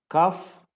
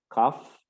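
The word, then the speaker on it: cough: runny nose we say cuff it is number e to force air loudly through the throat cuff and this uh GH is pronounced as F cuff so it is e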